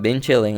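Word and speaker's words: 冰淇淋: The pronunciation of Bing Chilling is ice cream in Mandarin.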